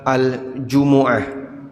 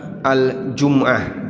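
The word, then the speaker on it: الجمعة: Nama Jumat ada 2 cara baca. Bisa dibaca al-Jumu'ah, mimnya di dhammah, al-Jumu'ah. Bisa juga dibaca al-Jum'ah, mimnya di kasrah.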